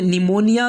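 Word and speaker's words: pneumonia: उसके बाद में 14वां रूल है, जब पी के बाद एन एस टी आ जाए तो पी साइलेंट होगा, यानी पी के बाद में एन या एस या टी आए तो पी जो है तो साइलेंट हो जाएगा।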